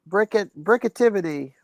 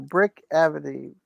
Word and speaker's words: Brickavity: Brickactivity. No, Brickavity. Brickavity.